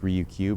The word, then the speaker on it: Ryukyu: It's pronounced Ryukyu because Q is how you say 9 in Japanese.